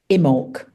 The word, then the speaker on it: Imbolc: Now it's spelt with a B, but you actually pronounce it Imbolc.